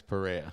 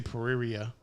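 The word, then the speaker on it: Pereira: his name for me Alex perea perea I always want to say pariria that's what it looks like yeah but you know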